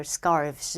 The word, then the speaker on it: scarves: 근데 scarf가 F로 끝나는데 F를 V로 바꾼 다음에 ES 붙여서 느끼한 발음 스카프들, scarves 이렇게 내가 알바야?